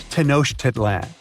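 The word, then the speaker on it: Tenochtitlan: It's Tenosh Titlan. And Mayan cities are hard to pronounce too.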